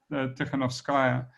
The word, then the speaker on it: Krzykawska: of Svetlana I have to be able to pronounce her name properly, Krzykawska, is really was amazing, and to claim that